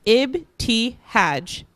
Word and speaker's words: Ibtihaj: young lady she asked it's Abe T Hodge I said pronouncing each syllable as slowly as possible it's pronounced just like it's written I added that usually